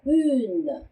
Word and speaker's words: une: 그래서 une 이렇게 발음을 하셔야 되고요. 자, une의 u가 바로 아까 tu 할 때 봤던 그 u 발음이죠. 네, 입술을 우 한 상태에서 이 소리를 내면 발음되는 소리가 바로 u인데요. 이 u 다음에 n, 가 왔기 때문에 une 이렇게 발음을 하시는 거죠. 그래서 une explication.